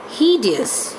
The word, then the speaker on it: hideous: and the word hideous, he sound will be stressed. And here you can see the word, how it will be spoken. Hideous. Okay. So 3 syllable, he, d and us.